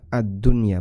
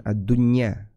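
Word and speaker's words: الدنيا: Adunya ini dibaca addunya bukan adunya. Karena nun mati ketemu dengan ya. Pada asalnya mengikuti aturan idgham bighunah. Tapi karena satu kata maka dia tidak berlaku.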